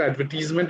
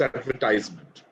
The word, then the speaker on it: advertisement: Only one, it's not advertisement, it's advertisement. That's a major pronunciation mistake which in India we do. It's not advertise, it's advertise. Advertisement.